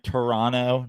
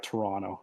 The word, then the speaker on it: Toronto: corrected on uh Instagram Toronto not no t no second t yeah Toronto yeah that's how you say it um actually my